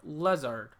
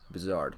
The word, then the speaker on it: Lazard: Yeah, like, the part where it should sound like lizard, like the second part in lizard, is spelled like lizard, but it doesn't sound like it.